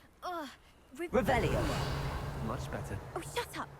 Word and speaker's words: Revelio: You're Rebellious. saying it wrong. Ugh. Revelio.